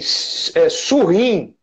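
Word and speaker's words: Surin: Se vocês quiserem pesquisar na internet, o nome é porque a gente pronuncia, eu tenho o mau hábito talvez de pronunciar em francês, o nome dele é S-U-R-I-N, de neném, Surrim.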